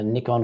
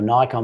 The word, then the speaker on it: Nikon: You know what, the interesting thing about that, Danny, too, is I came from Nikon or Nikon, whichever way you want to pronounce it, but I had